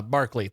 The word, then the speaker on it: Barclay: And then Barkley excuses himself and then data comes up with like meta metathesis is the most common of pronunciation errors. A reversal of vowel and consonant bark to Brock and then he stops himself.